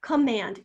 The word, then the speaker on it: command: Command, command. And, oh, I can hear that short A sound there, but come, that is not a short O sound. That is a sneaky little schwa, and we're going to